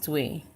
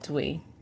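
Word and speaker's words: 兌: So this is Dwi. How to pronounce it, Dwi.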